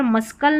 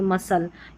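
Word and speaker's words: muscle: और सी साइलेंट भी रहता है। जैसे यहां पर मस्कल नहीं पढ़ेंगे। मसल यहां पर सीज़र्स में जो है सी साइलेंट है। इन दोनों स्पेलिंग्स में सी साइलेंट है।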